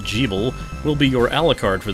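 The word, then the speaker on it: Gebel: Jeeble, yes, it's supposed to be pronounced Jeeble, will be your Alucard for this adventure.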